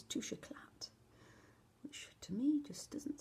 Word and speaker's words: Touche Éclat: I've been pronouncing this the wrong way. I thought it was touche clay, but apparently it's touche éclat, which to me just doesn't sound quite right, but you go with what you're told.